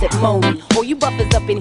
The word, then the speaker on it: Monie: Pronounce it Moni.